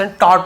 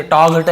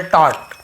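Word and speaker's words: taught: यानी सिखाना, उसका पास्ट टॉट होता है, जी को साइलेंट रहता है, पढ़ेंगे नहीं, टॉग हटे ऐसे नहीं पढ़े, केवल टॉट।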